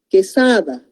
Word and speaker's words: Quesada: Quesada, entonces tampoco es diptongo porque solamente se está pronunciando como quesada, ¿no?